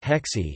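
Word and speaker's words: 河蟹: River crab hexi is pronounced the same as harmony, the official term used to justify political discipline and censorship.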